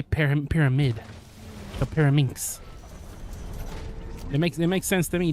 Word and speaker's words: Pyraminx: Inks as in links. Oh, so Pyramix. Oh, so it's not Pyramix. It's Pyraminx.